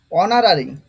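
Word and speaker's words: honorary: হোক তারপরে পরে দেখো অনারারি অনারারি এইচ এর উচ্চারণ তো হবে না জানো অনারারি অনারারি মানে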